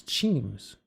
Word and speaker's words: Cheems: It's not Keems, it's Cheems.